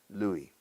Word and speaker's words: Louis: Lo solemos, en inglés, lo pronunciamos a lo francés, Louis.